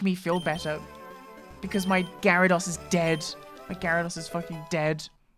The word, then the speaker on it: Gyarados: I believe it's it's pronounced Gyarados. Gyarados. But you kind of just don't pronounce the Y.